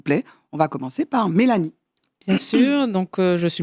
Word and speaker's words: Mélanie: Et puis il y a aussi Mélanie. Comment ça va? Je vais bien. Voilà, ça s'écrit, mais ça se prononce.